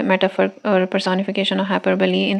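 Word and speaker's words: hyperbole: हाइपरबली इसकी pronunciation क्या है, हाइपरबली।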